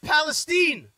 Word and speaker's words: Palestine: They pronounce it Palestine.